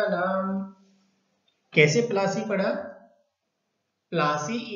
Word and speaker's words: Plassey: प्लासी इज an English side pronunciation of प्लासी एंड द प्लेस derivative it's name from the pliers tree known for its beautiful